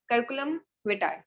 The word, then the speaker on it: curriculum vitae: So basically the full abbreviation of CV is curriculum vitae, pronounced that curriculum vitae, ठीक है।